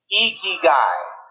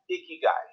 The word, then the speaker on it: ikigai: it it's pronounced ikigai you lift your cheeks like you're smiling it's icky guys say it with me eeky guy you got it that's right it's not pronounced ikigai if i was wearing